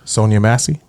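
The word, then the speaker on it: Sonya Massey: How do you pronounce her name again? Sonia Massey.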